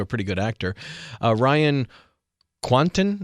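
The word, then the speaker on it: Ryan Kwanten: pretty good actor uh ryan quanton is how you say his name he was on true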